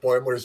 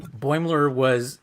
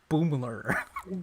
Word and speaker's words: Boimler: promotion to the Titan, that Riker called him Boomler. Yes. Which is another callback to the beginning of the series where they were mispronouncing his name as well.